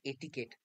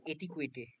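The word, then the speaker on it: etiquette: হ্যাঁ এটিকেট মানে সভ্যতা এটিকেট মানে হচ্ছে সভ্যতা আমি চাকরি পাওয়ার পর আমি এটা জানতে পেরেছি যে এটার উচ্চারণটা হচছিল এটিকেট আমি তার আগে পড়তাম এটিকুইটে ইটি আই কিউ ইউইটিটিই ঠিক আছে এটা হচল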